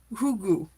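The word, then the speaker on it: hygge: the example to follow the Danish have a word pronounce hugu it has no English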